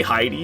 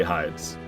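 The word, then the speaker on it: Heide: Tower flame is it is it supposed to be Heidi it's spelled just like the name Heidi but I can't bring myself to say Heidi Tower of flame so I always say hides always um ow I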